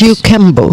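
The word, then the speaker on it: Kajukenbo: It's a mix- Kajukembo. Yes. It's Did I pronounce it right now?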